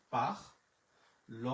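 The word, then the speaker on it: parler: আছে আমার এর, তাহলে হচ্ছে পাখ। ল এর উচ্চারণ হচ্ছে ল, ও এর এর উচ্চারণ হচ্ছে একার, তাহলে পাখ লে, পাখ লে।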